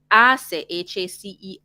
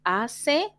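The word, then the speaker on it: hace: of them begin with ase remember we don't pronounce our h in spanish that's why we say ase and i while the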